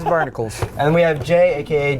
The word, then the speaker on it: Barnacules: is AKA barnacules nobody ever pronounced it right Barnacles think Barnacle Hercules Barnacles is this Hercules is barnicles and we have Jay